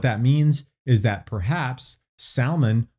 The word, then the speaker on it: Salmon: means is that perhaps salmon was or salmon if you're doing Hebrew pronunciation perhaps he was one